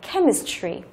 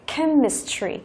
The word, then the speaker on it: chemistry: phương án C này chúng ta có CH đọc là âm k. Đó, thì cái âm đó, nhớ chưa? Chữ cái thì là chữ CH, thế nhưng mà âm thì chúng ta nhớ là đọc là âm k. Đó, đọc là chemistry.